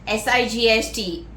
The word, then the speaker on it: sight: Next word, sight, S-I-G-H-T, G is silent. Sight, power of seeing or eyesight, vision, glimpse. It is sight, S-I-G-H-T, sight, yeah, sight.